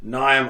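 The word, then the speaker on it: Niamh: the mullet stage is it's spelled n-i-a-m-h liam yeah nyam oligar and yeah she's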